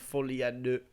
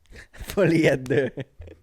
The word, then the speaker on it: Folie à deux: No, but just the fact that it's confirmed Folie à Deux. Folie à deux. Yeah, you have to say it like you're French.